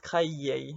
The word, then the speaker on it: créée: And it's still pronounced créé.